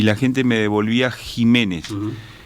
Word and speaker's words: Ximénez: Usted, Jiménez, aclaremos, es con X. Es con X, pero se pronuncia J.